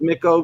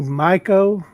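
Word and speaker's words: Micco: can I ask you how do you pronounce it to you brown sack Mikko or amico it's actually Mike Oh Mike oh okay it's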